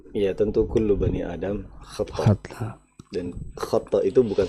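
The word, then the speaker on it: خطّاء: tentu kullu bani Adam khata, Khata. dan khata itu bukan satu kali, bukan Oke. kita bacanya itu bukan khata tapi khata ya, Ada bukan tasdidnya.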